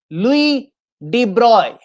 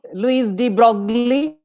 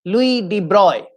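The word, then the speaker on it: Louis de Broglie: pronounced correctly so for the students let me pronounce the correct correct kind of version it is louis de bruyne so it is not louise d broccoli very often we say so it is not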